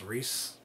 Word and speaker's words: Rhys: his name I'm sorry it's probably even not even reisen's Rhys right it's Rhys I can never pronounce